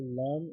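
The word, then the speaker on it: ل: So the letter Lam is pronounced by touching the tongue tip to the upper palate.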